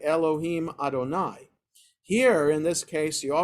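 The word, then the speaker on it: יהוה: When Adonai is followed by Yud He Vav He, you always pronounce it, the Yud He Vav He as Elohim.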